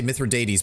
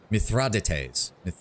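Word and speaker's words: Mithridates: This is not the first time uh I keep wanting to say Mithrates, but they're using a different pronunciation. Mithradates Mithrides.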